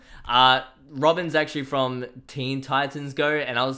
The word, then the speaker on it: Teen Titans Go: uh robin's actually from teen titans go and i was saying like goatee like go teen titans or something like that i was saying it wrong okay i do apologize